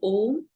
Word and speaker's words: om: your body the syllable om is so powerful and the correct way of chanting om is a u n Swami says when